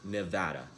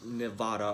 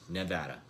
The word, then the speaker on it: Nevada: It's pronounced Nevada, not Nevada or whatever sinister spell that you utter to summon Beelzebub from the depths of hell.